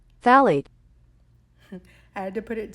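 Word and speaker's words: phthalate: love is the one that no one can say because of this p in the front but this is how you say it phade phet I had to put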